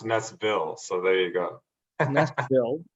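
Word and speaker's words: Næstved: FoG Naestved. Team FoG Naestved. Naestved. Yeah. And actually over here it's pronounced Naestville.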